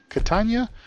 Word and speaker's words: Catania: and there we go folks Toronto to continue Catania if that's how you say it we earned